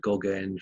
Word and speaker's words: Gogaine: I bought a drug called Gogaine from a head shop, and Gogaine rhymes with cocaine, so you can guess it's a stimulant.